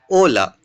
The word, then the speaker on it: hola: So here it written has a hola but h is silent. So we will pronounce as hola which mean hello in English.